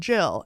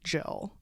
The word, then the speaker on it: gill: bet you it was it was said like Jill um because like the